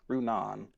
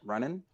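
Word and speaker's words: Runaan: make using one but his name is pronounced rune on in my review I can't pronouncing it running like it's running and so many people commented like it's not running like he's jogging it's it's it's running now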